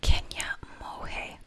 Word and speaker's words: Kenia Monge: Travis, whom was a local entrepreneur, had met Kenia Monge.